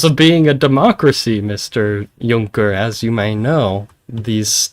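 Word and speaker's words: Juncker: Junker.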